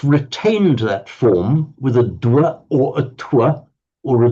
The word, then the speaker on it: dwa: Dwa.